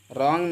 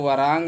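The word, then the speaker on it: wrong: से होता है रंग रंग में blue R ओ एन जी इसको वारंग नहीं बल्कि रंग पढ़ते हैं रंग मेंस होता है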